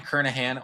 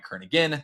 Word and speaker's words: Kernighan: would be so Brian kernahan one it looks like it's spelled Brian Kern again that is not true we learned that after